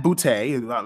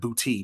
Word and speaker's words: Booty: it's it's it's just funny man because matt bootay my understanding is how it's pronounced not booty but boot a the cool thing about it